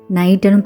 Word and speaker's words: knight: இதை நம்ம எப்படி ப்ரொனவுன்ஸ் பண்ணுறோம்? நைட்டுன்னு ப்ரொனவுன்ஸ் பண்ணுறோம். அப்போ கே லெட்டரோட சவுண்ட் எங்கே போச்சு?